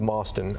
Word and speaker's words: Mostyn: Let's talk about Steve Mostyn. Am I pronouncing that right?